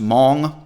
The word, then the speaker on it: Hmong: southeast asia called the mong it's pronounced hmong but it's spelled h-m-o-n-g i would bet money